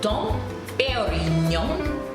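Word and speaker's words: Dom Pérignon: So Peri, like Peri, P-E-R-I, Peri, Peri, Dom Perignon, Perignon.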